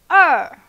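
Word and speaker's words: 二: e okay number two er er it's a falling tone so release your emotion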